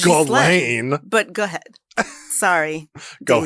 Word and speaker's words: Ghislaine: Diddy or Ghislaine Maxwell. Not the Diddy shout out, not again, no! I also wonder why they keep on saying that Ghislaine Maxwell.